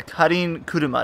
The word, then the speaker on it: Karin Kuruma: It's called the KARIN Kuruma. That's how you pronounce it in Japanese.